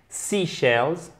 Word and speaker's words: seashells: Seashells. Donc là, il ne faut pas vous tromper, il faut bien faire l'accent tonique sur la première syllabe.